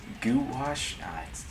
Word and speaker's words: gouache: She said goo. I'm gonna go with goo, not guh. Gouache. Gouache?